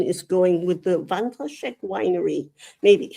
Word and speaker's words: Wandraschek: name, because I don't know how my pronunciation is going with the Wandraschek Winery. Maybe. It's perfect. Even as a German native, Wandraschek Winery is how I would pronounce it.